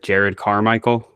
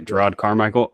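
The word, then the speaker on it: Jerrod Carmichael: side character interactions though I hope I pronounce his first name right but Jared carmichel yeah yeah gerod oh it's gerod okay gerod carmichel I enjoy him in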